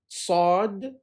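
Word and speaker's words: صاد: the arabic alphabet are sod and sounds like the letter s but it has a whistle sound to it a whistle sound to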